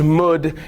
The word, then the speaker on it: mood: And to us, when we're reading that, we're like, mood and blood, that's weird, that doesn't really rhyme. But when Shakespeare was writing it, it would have been pronounced mud and blood.